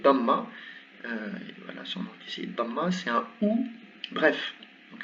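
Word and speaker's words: ضمة: Voilà, son nom ici, damma, c'est un ou. Bref, donc elle se prononce tout simplement ou. Et exactement comme pour la double fatha, ici c'est une double damma.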